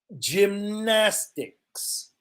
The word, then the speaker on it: gymnastics: you got it you got it catherine exactly gymnastics this is soft g gymnastics gymnastics we also